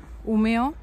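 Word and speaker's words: Umeå: en una ciudad que se llama umeo aunque se escribe umea Bueno pues estaré aquí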